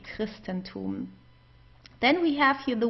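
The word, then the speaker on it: Christentum: So we would pronounce it like a K in this case.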